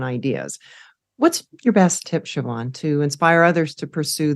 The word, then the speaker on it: Siobhan: to find me and it's just my name Siobhan So siobh Silent b h a n